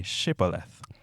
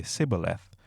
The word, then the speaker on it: Shibboleth: tell him to say Shibboleth. If he was from Ephraim, he would say Sibboleth, because people from Ephraim cannot pronounce the word correctly.